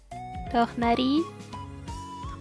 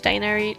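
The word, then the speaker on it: Tighnari: I think the somewhat correct pronunciation is Tornari. Or as they say in English, Tainari.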